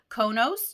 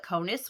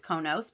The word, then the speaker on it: KONOS: main unit study resource it's konos you could also call it conus which is how I say it that's probably wrong I do believe it's konos but I say it